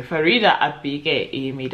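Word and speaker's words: Faridah Àbíké-Íyímídé: The next book I did pick up was Farida Ayamide's Okay, Farida Abike Emid. I was so happy with myself because I was like, I said it right for the first time, but it was her Where Sleeping Girls Lie.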